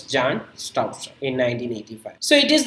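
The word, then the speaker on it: Bjarne Stroustrup: It was actually introduced in 1985 by a talented computer scientist called Jan Stouster. We can note B is silent here. So it's Jan Stouster in 1985.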